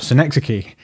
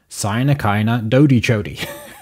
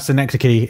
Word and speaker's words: synecdoche: about synecdoche of here's a my favorite mispronounced mispronunciation of synecdoche and this his voice saying sign Akana Dodie Jody which is which is really funny just the